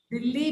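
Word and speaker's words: Delhi: ये ड है, डे, ABCD स्पेल आउट देखा, डी, द, ड, इट्स दिल्ली. दिल्ली बिल्कुल सही प्रोनाउंसिएशन है, वो हिंदी में करेक्ट है, लेकिन अंग्रेजी में क्योंकि अल्फाबेट का साउंड ही डी है तो हम उसको दिल्ली नहीं भेज सकते, उसको दिल्ली भेजना पड़ेगा.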